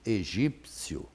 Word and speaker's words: egípcio: Agora, quando a criança ouve egípcio, ela ouve o P, então ela pronuncia o P.